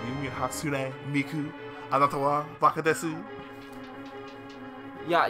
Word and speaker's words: Hatsune Miku: Steven doesn't pronounce anything properly. Hatsunami. Yeah, he gives up halfway through certain words. Hatsunami. I'm like, you mean Hatsune Miku?